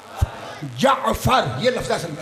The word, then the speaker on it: جعفر: امام ہیں اس لیے ہر شیعہ کا یہ تلفظ صحیح ہونا چاہیے کیا لفظ ہے جعفر یہ لفظ ہے اصل